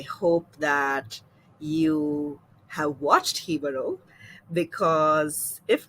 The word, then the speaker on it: Jibaro: Uncultured people like Sank and I have been mispronouncing it as Jibaro for the past couple of weeks, and we recently learned the correct pronunciation of it, which is Jibaro.